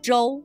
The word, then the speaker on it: Zhou: to review the word Zhou, which we discussed in Part 2 of Learning Chinese Provinces. The pinyin letter combination, ZH, is pronounced much like the English J.